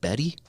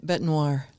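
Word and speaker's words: Bête Noire: initial fight between Alex is it Betty beat Betty oh bet Noir I I didn't know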